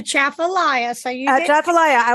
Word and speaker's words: Atchafalaya: The natural beauty, and I want to still do, am I going to pronounce this right? Atchafalaya? I need to go back to Louisiana. I've been gone for a few months. You did good. It's a Atchafalaya.